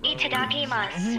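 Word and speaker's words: いただきます: Itadakimasu. Wizards, barbarians, and Is it mas or masu? Mas. Yeah, accent. No masu. It's mas.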